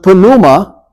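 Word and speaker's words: pneuma: familiar with is pronounced Puma which gives us our word pneumonia okay in in in Greek the p is pronounced in English of course it's silent and it has to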